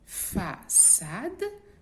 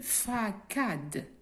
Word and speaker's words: façade: Regardez, façade s'écrit avec un C cédille. Si on enlève la cédille, nous aurons une facade.